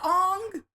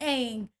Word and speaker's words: Aang: What he did to Ong. We spent an entire 3 seasons on Nickelodeon saying Aang. And this grown man had the unmitigated gall to say his name is Ong.